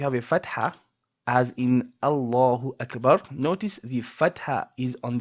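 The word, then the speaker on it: الله أكبر: Allah and that means we say Allahu Akbar and not Allahu Akbar. We do not make the lam of the word Allah flat. We say it with a heaviness.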